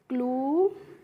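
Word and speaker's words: clue: तो बी एल यू ई है तो इसको हम पढ़ेंगे ब्लू और सी एल यू ई को पढ़ते हैं क्लू जी एल यू ई को क्या पढ़ेंगे ग्लू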